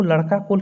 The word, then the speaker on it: लड़ाका कोल: कि हो लोगों को लड़का कोल किसने कहा। देखिए यहाँ पे लड़का कोल लिखा गया, तो ये हो जाएगा लड़ाका कोल, इसका सही उच्चारण है लड़ाका कोल।